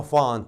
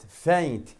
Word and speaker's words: faint: ثروت مو تلفظها فانت، خطأ فانت. فينت لأنه الأي آي يلفظ صوت الأي. فينت.